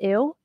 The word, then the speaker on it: ewe: Is it pronounced ew? Is it for real? Or use? I am not sure which one it is, but it's E-W-E. Ewe? Ewe? Ew? Emu? Oh, okay. Okay, here we go. Laura says it's pronounced you. What on earth are you guys talking about?